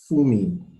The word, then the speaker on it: Funmi: The IBM representative, how do you pronounce her name? Her name is well, just call her Funmi for short.